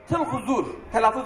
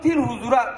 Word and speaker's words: Tılhuzur: Köyün adı Tılhuzur. Yerel telaffuz böyle. Sonra bunu Tilhuzur'a çevirdiler.